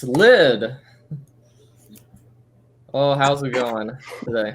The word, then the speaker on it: Lyd: You just need to say Lid and we know who you are. Yeah, just Lid. Yeah, you don't need any other details. It's just one syllable, like Drake.